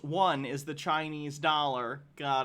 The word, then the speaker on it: yuan: Logarth says, the yuan, pronounced one, is the Chinese dollar.